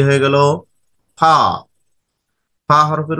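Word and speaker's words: فاء: ফা। ফা হরফের উচ্চারণের স্থান কি?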